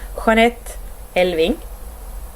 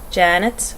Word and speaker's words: Jeanette Elving: My name is, in Swedish, it's pronounced Jeanette Elving. I suppose you could in English say Janet or Jeanette.